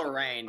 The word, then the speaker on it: Lorraine: It's pronounced Oh. Lorraine.